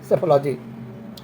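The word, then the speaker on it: psephology: उसे सेफोलॉजी बोलते हैं जिसमें पी साइलेंट है सेफोलॉजी स्टडी ऑफ फ्लोइंग एरोप्लेंस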